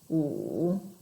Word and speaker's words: 五: So, my tip for you to pronounce tone number 3, our third tone, you should start very, very low, like 五, 五. It will help if you lean your chin back a little bit.